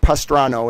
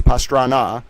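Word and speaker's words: Pastrana: We know that she knows the president of Colombia who's not Pastrano, it's Pastana. Come on, you need to get his name right.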